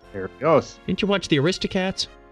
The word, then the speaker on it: Berlioz: And Hector Berlioz. Berlioz. Berlioz.